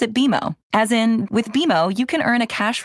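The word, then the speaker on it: BMO: more common than you think but we actually pronounce it beo as in with bimo you can earn a cash reward every month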